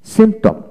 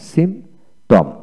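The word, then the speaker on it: symptom: তারপর আসেন সিমটম, সিমটম, এস ওয়াই এম পি টি ও এম, সিমটম, সিমটম। পি উচ্চারিত হবে না এখানে।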